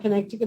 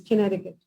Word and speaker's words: Connecticut: explain something to you connecticut is not called connecticut it's connecticut and that's how it's pronounced he made me repeat it a few